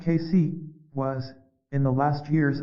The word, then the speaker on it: Cayce: man was Edgar Casey Casey pronounced casy was in the last